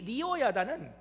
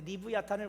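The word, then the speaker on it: לִוְיָתָן: 이 리워 야단은 히브리어로 리브야탄입니다. 그런데 리브야탄을 우리말 성경으로 그냥 리워 야단이라고, 발음하기 쉽게 리워 야단이라고 번역을 해놨습니다.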